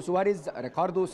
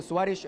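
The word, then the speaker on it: Soares: جدا من الاوساط بتنادي مستر ريكاردو سواريز، ريكاردو سواريش، ريكاردو سواريز. خليني اقول لك ان النطق صحيح سواء في الثلاث في الثلاث اسماء سواء ريكاردو سواريز ريكاردو سواريش او ريكاردو سواريز.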